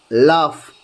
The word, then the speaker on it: laugh: examples from rule 1, GH is sometimes pronounced like F. Consider the words below. Drought. So, and if you just look, cuff, laugh, tough. Here, it is sometimes pronounced as F.